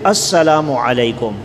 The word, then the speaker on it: السلام علیکم: کی کوشش ہی نہیں کرتے، تو یہ صحیح تلفظ ہے السلام علیکم۔ باقی بعض لوگوں نے یہ مشہور کیا ہوا